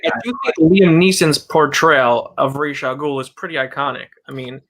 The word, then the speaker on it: Ra's al Ghul: That's my one knock film is it's Ra's al Ghul, not Raz.